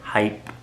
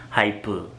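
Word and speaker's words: HYBE: new goal group that hype entertainment i keep saying hype hypo yes that's the pronunciation has released onto the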